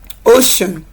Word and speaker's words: ocean: Ocean. So we're not saying because there's a letter C, so we're producing it as ch. It is produced as ocean, sh.